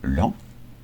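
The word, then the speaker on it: Laon: le département de Line préfecture LAN qui s'écrit l a o n et là vous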